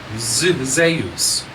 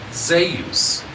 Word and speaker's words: Zeus: Now, the reason why I pronounce it Zeus, think about the term Deus, Theos, Theos, or Theos.